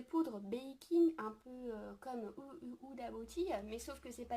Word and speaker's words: Huda Beauty: Huda Beauty, pardon, excusez-moi, que je le prononce bien en anglais, Huda Beauty, donc bref,